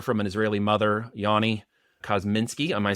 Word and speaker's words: Kozminski: And my good friend and brother from an Israeli mother, Yoni Kozminski.